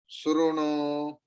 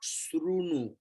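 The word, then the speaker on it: शृणु: Sruno, not Srunu. Your lips, if it comes like that, it will clearly pronounce U.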